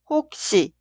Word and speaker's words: 혹시: La sílaba una, 혹, termina con 기역 y la sílaba dos, 시, inicia con 시옷. En este caso, 시옷 se pronuncia como 쌍시옷. 혹시, 혹시.